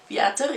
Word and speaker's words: Viator: I don't know how to say it in English, so I say it kind of like in Dutch. Viator, yeah.